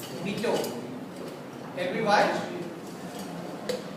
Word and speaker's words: mojito: In mojito the J is silent. But J is not silent. The sound is coming of H. Mojito.